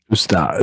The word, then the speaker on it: Usnavi: Instead of U.S., it's us, and then instead of nay, it's na. So I mean, he's close, but Usnavi.